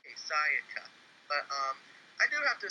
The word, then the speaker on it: Sayaka: Sayaka. Sayaka. Gosh, Cody, you're so American. Syllables, Cody. Yes, Sayaka.